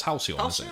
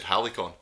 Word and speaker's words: Halcyon: i think so okay halcyon or that's halcyon yeah i used to have trouble with that one i always said helicon helicopters i would just